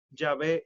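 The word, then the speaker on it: Yahvé: ellos traducen como jehová sin embargo es incorrecto porque tú estás juntando dos palabras ahora mismo no se sabe cuál es verdaderamente la manera en la que se pronunciaba llave pero lo que sí se sabe es que es mucho más probable que se pronuncie sabe mucho más que jehová jehová es incorrecto ya ve es correcto pero sepan y este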